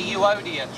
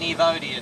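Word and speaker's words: Euodia: should read EU oia apparently it's a uoda tree not an evodia tree doesn't make a lot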